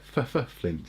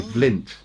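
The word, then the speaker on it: Fflint: It is spelt like the stone, but also actually in Welsh it's Flint. It's two F's. Yes, because in Welsh one F is the V sound. So it would be Flint in Welsh if it was just one F.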